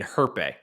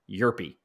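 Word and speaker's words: Hjerpe: I've been saying Herpe. I was trying way too hard. It's Cooper Yerpe.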